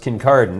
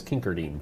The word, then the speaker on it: Kincardine: to seven acres it's in Kincardine which is pronounced Kincardine in most of Ontario but I prefer to think of it as Kincardine Kincardine yeah it's a long way to go